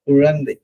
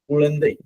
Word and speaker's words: குழந்தை: குழந்தை குழந்தை குழந்தை குழந்தை குழா குழந்தை. இந்த பற்கள் அந்த அன்னத்துல உரசிக்கிட்டு போவோம். ழகரம் ழகரம் சொல்லும் போது உரசி சுழித்து போவோம்.